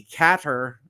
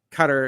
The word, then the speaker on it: Qatar: chat and saying with my pronunciation of Qatar I I I see cater I think give or take uh but uh duct tape hugged to his chair and make him repeat cut her until he gets it right my country gets mispronounced